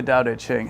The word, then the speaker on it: Tao Te Ching: I know it's spelled with a T, but it's actually pronounced with a D. For some reason, I'm not quite sure why. Anyways, this book, the Tao Te Ching, has been with me